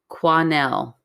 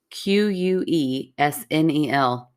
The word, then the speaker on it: Quesnel: In Quesnel. Oh, okay. Do you want me to tell you how it's spelled? Sure. Quesnel.